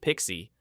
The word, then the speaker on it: PKCE: Second, it mandates PKCE pronounced Pixie for all client types.